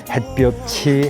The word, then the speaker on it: 햇볕: 햇빛이 치이나 티이나 다 치로 해 버리는데 이것도 잘 못죠. 햇빛이 햇빛은 햇빛을 그다음에 햇볕이 햇볕을 햇볕은 이렇게 발음해야 되지 않습니까? 빛과 벽이 구분도 해야